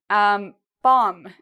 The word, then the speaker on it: bomb: Okay, bomb. If you think about a bomb, an explosion, right? Bomb. Again, same rule. If you have an M, you do not pronounce the B.